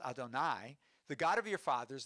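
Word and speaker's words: יהוה: the people of Israel, Yud He Vav He, or as we pronounce Adonai, the God of your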